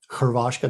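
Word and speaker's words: Hrvatska: want croatia which is spelled hr here so it's um khoravashka that's the original name or actually the name that they would use um and then hungary and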